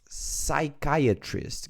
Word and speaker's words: psychiatrist: Next, psychiatrist. Guys, this pronunciation here is important because here you don't pronounce letter P. It's silent.